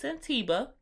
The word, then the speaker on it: Santiba: and I was like, is that how it's pronounced? Because I missed the name the first time. But it's Santiba.